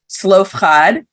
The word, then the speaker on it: Zelophehad: So we meet a character, and I'm going to go by his Hebrew pronunciation, Zelophehad.